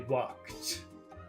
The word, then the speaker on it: walked: in the past they walked that's difficult for people to pronounce you have to do three steps walk stop T walk T walk walked that's very difficult for